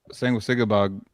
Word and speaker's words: Sanguisugabogg: How's the members of Sanguisugabogg?